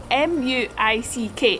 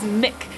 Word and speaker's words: Muick: it was pronounced as Muick or Muick, but the locals have told me it's pronounced as Mick, like the man's name.